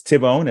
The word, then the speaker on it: Thibone: Thibone here, who I've learned in French, you don't pronounce the H. And so it's Thibone, as if the H were gone or silent.